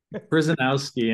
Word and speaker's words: Kryzanowski: I can't pronounce that. Kryzanowski, and because it's basketball season, you can all call me.